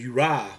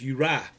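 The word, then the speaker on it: Uriah: I thought it was Uri was the way that you pronounce that town, but I found out that it's Uri.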